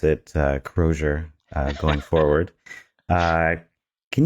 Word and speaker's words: Crozier: will uh uh pronounce the company as you pronounce it uh kroer uh going forward uh can you um kind